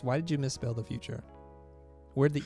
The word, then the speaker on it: Futur: So if you type in The Futur, and The Futur is spelled without an E, so it's Futur, F-U-T-U-R.